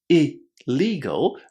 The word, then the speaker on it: illegal: But notice that the letter I here is in front of a double consonant. And in English when this happens in 99.9% of the cases this letter I is going to be pronounced as a short I. So in here we're saying illegal because I is in front of a double consonant. Illegal.